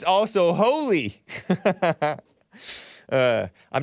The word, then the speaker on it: Holi: h-o-l-i who knew so I'm like oh it's pronounced Howley I was like is it holy or is it Holly h-o-l-i right it's pronounced